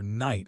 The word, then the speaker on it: knight: If you read the knight fought the dragon and you hear knight and slashfought/fought, you instantly learn the silent letters.